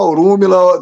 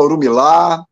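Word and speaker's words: Orunmila: pronunciei errado como é como é que se pronuncia orumila eh você pode falar orumila Tem gente que fala orumilá mas é orumila eh Esse livro me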